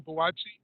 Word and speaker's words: Buatsi: I don't know how to pronounce his last name. Boutsi? Joshua Buatsi. Boatsi, yeah. Buatsi.